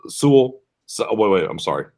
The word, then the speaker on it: Sewell: It's Surtain, it's Horn, it's Sewell.